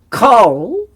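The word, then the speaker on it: כָּל: Now this is interesting because firstly, Kol is said because the kamatz is a grammar rule. With the kamatz there, it's a grammar rule. It is a short O sound in an unaccented closed syllable, usually the first. So that's why we say kol.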